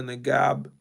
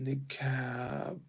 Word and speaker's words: niqab: Many women that wear the niqab, and Mr. Wasami said the garment had increased in popularity recent. Okay, niqab.